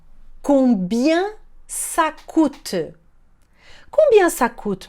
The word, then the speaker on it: combien: Repare que o EN ali tem som de un, combien.